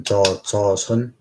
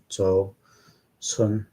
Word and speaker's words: Joseon: I think it's if I like pronounce it better than Joseon, which means it should be like a J-O, Joseon, S-E-O-N, like this, space.